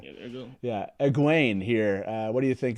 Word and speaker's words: Egwene: How do you say it again? Wigwayne? Egwene.